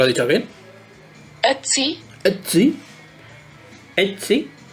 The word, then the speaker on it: Ötzi: Ötzi. Porque es O con diéresis. Ötzi. Es Ötzi. Es como una O abierta.